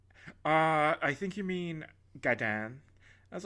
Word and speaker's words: Gaiden: pronounced instead of the name Ninja Gaiden, I pronounced it Ninja Gaiden, and the guy working there was like, I think you mean Gaiden.